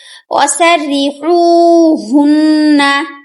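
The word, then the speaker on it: وَسَرِّحُوهُنَّ: ওয়াসাররিহুন্না, এখানে দেখুন ওয়াসাররি, তারপরে এখানে বড় হা, হলকের মধ্যখান হইতে আইন হা। আমরা কিন্তু হা যেখানেই থাকুক না কেন আমরা পড়ার সময় গলা থেকে উচ্চারণ করব, আর এটা কিন্তু হলকের শুরু হা।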